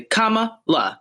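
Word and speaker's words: Kamala: a freaking six-year-old four-year-old knows how to say comma la like it's not that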